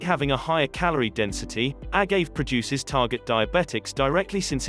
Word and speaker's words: agave: Agave, pronounced agave, is a syrup manufactured from the blue agave plant that is mostly produced in Mexico.